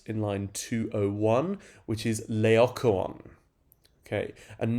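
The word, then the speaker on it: Laocoön: is leokowon okay and notice that his name is actually four separate syllables on and that's quite important when it comes to thinking about the rhythm of these lines uh for the scansion exercises that the IB asks you to do so la ocaon four syllables um and then in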